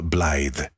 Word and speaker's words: Blythe: Mademoiselle Blythe, he said, pronouncing the Y like a soft I.